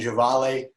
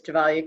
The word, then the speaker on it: Gevalia: whole world knows like quaker orbit gum and javale coffee and i probably mispronounced that but the audience could you give